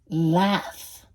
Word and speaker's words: laugh: Laugh. Laugh. Reírse, right? O reír. Laughing. Laughing. La GH in English is like F.